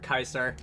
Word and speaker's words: Caesar: those who don't know the letter c was not pronounced sometimes as s in um in in like ancient Roman so words like Caesar Kaiser uh lest you ever